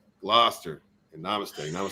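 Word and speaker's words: Gloucester: thank you very much it's pronounced gloster and namaste i would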